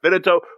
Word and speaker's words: Vidito: It's said just like it's spelled.